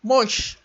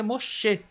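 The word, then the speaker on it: משה: Se eu for partir do princípio que este rei é mudo no fim, eu vou dizer Mosh, só Mosh, Mosh. A palavra vai ficar assim, o nome do Moisés vai ficar Mosh. Mas é Moshe, porque agora no final ele tem som de E.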